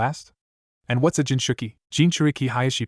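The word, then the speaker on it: Jinchūriki: Jinchuriki. Hiashi pronounced the syllables slowly so Naruto could learn how to say the word properly.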